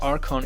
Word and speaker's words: Archon: Archon, do I pronounce this right? Archon.